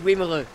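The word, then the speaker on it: Wimereux: Yes, Wimru.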